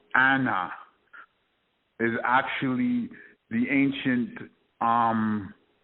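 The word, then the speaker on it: أنا: the pronoun i in the quran which is pronounced anna is actually the ancient um sumerian deity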